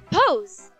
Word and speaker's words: Pose: uh my name's uh pose pose that's interesting yep rhymes with rose yeah yeah yeah yeah